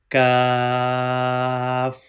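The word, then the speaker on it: كاف: From here, you can pronounce kaf. And you must read kaf with thin sound.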